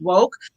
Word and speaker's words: WOCC: I'm the co-founder of Women of Color in Cannabis, WOCC, pronounced WOKE.